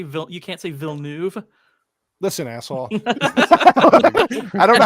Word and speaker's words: Villeneuve: You can say And facetious, but you can't say Villeneuve. Listen, asshole. I don't know how to say words. Villeneuve. Villeneuve.